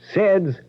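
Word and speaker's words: Ced's: Saids muffler service 3940 West Grand and they're just east of Crawford. Seds.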